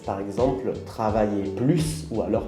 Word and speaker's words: plus: situations avec un objectif avec adverbe on ne prononce pas le s plus grand plus vite avec verbe et avec un nom on prononce le s par exemple travailler plus ou alors plus de personnes voilà j'espère